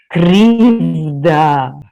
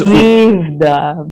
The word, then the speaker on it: Krivda: Roll it for me as in the Russian. Krivda. Okay, and what does... Krivda. Krivda.